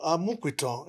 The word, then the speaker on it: Amupitan: Even sugar, you find it difficult to pronounce Amupitan. Yeah. The P is Kwe in Yoruba.